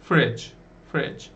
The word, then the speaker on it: fridge: Bunun okunuşuna dikkat edin. Okunuşunda hafif zorlanabilirsiniz. Fridge. Yani şunu okumuyorsunuz gibi aslında. Şurada G harfi, değil mi?